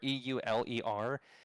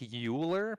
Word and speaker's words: Euler: anytime you see this this uh u or e u l e r it looks like euler but it's actually pronounced euler um and it's after the mathematician